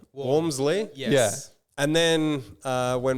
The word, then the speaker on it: Walmsley: say yeah walmsley well it's almost pronounced like w-a-r-m like warm walmsley yeah and then uh when my dad was like 65 he suddenly decided no no it's pronounced wellmsley like and i'm like